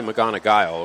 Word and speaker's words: McGonigal: It's spelled McGonigal, but they say McGonigal, according to J.J. Duke, the live stream guy from Hartford City.